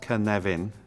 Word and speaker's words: Cynefin: this is the Canadian framework pronounced kan leven and for those of you who don't speak